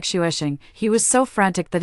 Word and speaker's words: Xavier: I named it Xavier, pronounced like shuesing.